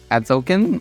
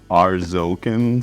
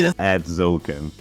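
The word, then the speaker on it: Atzocan: Adzokin or Ads? Arzokin Seer? I don't know. It's ATZ. There's no R there. Is that a There's a T. Adzokin?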